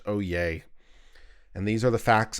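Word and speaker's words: Oyez: ye Z dot org it's pronounced oh yay and these are the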